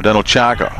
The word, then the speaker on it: Danilchak: That's Danilchak now, or Danilchak, I'm told it's pronounced, as he makes his way up to the 30.